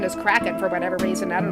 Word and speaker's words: Kraken: sea somewhere and for a while I kept pronouncing it kren but I guess a proper pronunciation is cracking for whatever reason I don't know why but